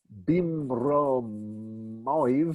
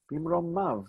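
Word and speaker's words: במרומיו: That is pronounced not bimromoiv or something like that, or maiv, but bimromav. The yud is silent. Bimromav. It's there to show me that there was originally a yud mem ending that was a masculine plural ending. So it's not bimromo, it's bimromav.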